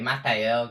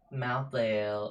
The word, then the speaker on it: Malthael: Today we're going to be doing a Malthael guide. Now right off the bat, I want to make one thing clear. It's not Malthael, it's Malthael.